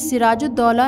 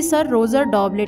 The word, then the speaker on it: सिराजुद्दौला: अंग्रेज सिराजुद्दौला नाम का सही उच्चारण ना कर पाने के कारण उसे सर रोजर डॉबलेट कहते थे।